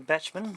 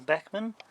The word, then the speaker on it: Bachmann: made by bachmann there's some people pronouncing batchman or bachmann but i look at